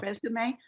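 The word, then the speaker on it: résumé: Remember how you pronounce that in French, resume.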